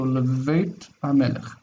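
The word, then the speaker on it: לבית המלך: Lebeit Hamelech. So to the king's house. Leveit Hamelech, to the king's house. Leveit Hamelech. This bet is soft and this chaf is soft. So Leveit Hamelech.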